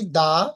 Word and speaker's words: the: যদি দা, I mean TAC এর পরের শব্দটি ভাওয়েল দিয়ে শুরু হয়, তাহলে THE এর উচ্চারণ হবে দি।